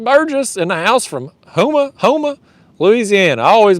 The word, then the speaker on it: Houma: Greg Burgess in the house from Houma, Louisiana. I always mispronounce it. I think it's Houma.